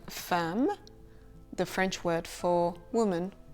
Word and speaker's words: femme: And the same pronunciation can be found in the word femme, the French word for woman or wife, une femme.